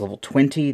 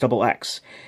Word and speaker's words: LvXX: I also have seen this, said to have been pronounced as level 20, the double X part, although reading the little katakana on that box actually does say it's meant to be pronounced double X.